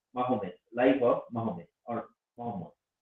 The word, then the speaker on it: Mahomet: So he spelled like that. That's why I'm pronouncing according to the spelling. Mahomet, Life of Mahomet or Muhammad.